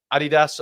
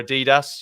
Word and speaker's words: Adidas: Wilson I mean he's already tried up he Adidas shirts from yesteryear hasn't he so yeah I